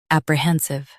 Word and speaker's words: apprehensive: US, pre. UK, pra. Stress stays clear.